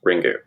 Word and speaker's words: Ringu: it conveys MH because the Japanese title of the ring is ringu which is just the the Japanese pronunciation for the word ring so literally the title